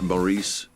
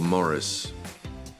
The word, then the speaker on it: Maurice: great debates isn't it is mar or Morris I don't know if it'll it'll ever really be settled um perhaps philosophers will be arguing over this for centuries to come how many times it's